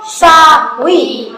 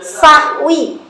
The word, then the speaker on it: sahwi: apa doang sunah sujud syahwi bukan syahwi sahwi pakai Sa bukan pakai S Sun sunah walaupun hanya